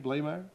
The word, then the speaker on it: Bley: good to see you is that how you pronounce your name blay yes because I think you